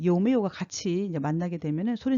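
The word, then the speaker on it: 有没有: 그런데 요메요 같은 경우는 메이는 경성으로 사용하지 않습니다. 그대로 자기 소리를 내주면 됩니다.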